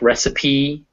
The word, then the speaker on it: recipe: they're pronounced with ease there is an exception in words that are french or greek so for instance recipe you say that e cafe you say that e those are french words or then if